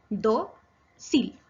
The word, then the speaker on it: dócil: La palabra dócil se separa en 2 sílabas. Do-sil. Es grave porque su acento está en la penúltima sílaba, do, y lleva tilde porque termina en la consonante L.